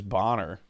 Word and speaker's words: Boner: I knew a dude that his last name was Boner, but he said it was Bonner.